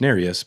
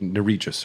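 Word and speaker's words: Nerijus: finger narus now I only remember that it's pronounced narus because I heard yurus say it the other day otherwise I would have said nus or nus but that's egregious yeah that's narus Northwest from MC Lake drops ruvia you want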